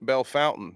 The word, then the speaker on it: Bellefontaine: Okay, my people pronounce Bellefontaine Bellefountain. You know why? Because I live in Ohio.